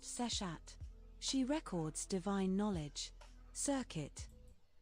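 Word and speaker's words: Seshat: Her name is pronounced sessat.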